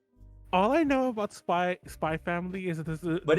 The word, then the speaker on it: Spy x Family: __ ] hunter hunter people calling hunter hunter even though there's an x in the middle so um that's the topic yeah it's called it's pronounced spy family apparently i was like